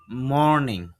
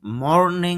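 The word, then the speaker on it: morning: জুতা বল খোলড ঠান্ডা বা শীত আউটসাইড বাহিরে মর্নিং সকাল এখানে র যে সাউন্ডটা আছে র সাউন্ডটা খেয়াল করেন আইপি এর মধ্যে নেই এইজন্য মর্নিং হবে না শুদ্ধ উচ্চারণ হবে এখানে একটু টান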